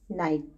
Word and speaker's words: night: Okay, stars and moon can be seen at night time. So now let us read the word night. Night. जैसा कि मैंने आपको बताया G and H letter जो हैं वो साइलेंट रहेंगे, उन्हें हमें नहीं बोलना है.